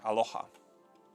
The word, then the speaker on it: Aloha: Yeah, pronounce the H. Aloha.